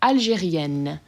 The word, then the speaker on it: Algérien: Adjective, we have Algérien and Algérienne. So this first one is Algérien, open, sort of nasally end sound, and Algérienne, closed end sound where you're actually pronouncing them.